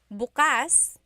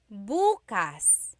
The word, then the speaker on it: bukas: depending on the context or depending on the pronunciation. If you say buas the emphasis is on the second syllable that means open. If you say buas emphasis is on the first syllable that means tomorrow.